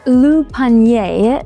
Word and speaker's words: Le Panier: go check out an old neighborhood now called Panier. Panier. I don't know how you pronounce anything. It's French, but you know. So we're gonna go check that out, see how that's supposed to be. Pronounced Le Panier, this is actually the oldest part of town.